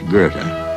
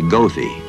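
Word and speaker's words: Goethe: lonesome for their poets in Germany it's Gerta but if you want a Chicago cppy to take you there he'll say gothi don't tell him he's saying it wrong he just might tell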